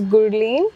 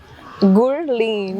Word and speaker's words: Gurleen: Okay, my name is Gurleen. Gurleen? Gurleen. Yeah, so you're supposed to pronounce the R and the L together. Gurleen.